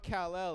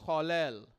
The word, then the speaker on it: Kal-El: But y'all been saying it wrong. It's not Kal-El, it's Kal-El.